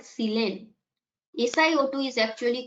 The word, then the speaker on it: silane: And see, you can find some similarity with the, if we pronounce methane, it is methyl, it is silane. That means similar type, it sounds similar. So methane is CH4 Just replace carbon with silicon.